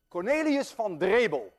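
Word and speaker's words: Cornelis van Drebbel: Cornelius van Drebel, and I know how to pronounce that name because I'm Dutch.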